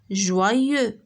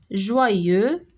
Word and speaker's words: joyeux: شتي هادي كتنطق حتى هي ي ولكن ما كتكتبش بإي. joyeux.